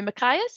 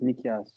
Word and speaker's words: Nikias: a hand up so is it sorry machias is that how you say your name um it's pronounced nikias um i go by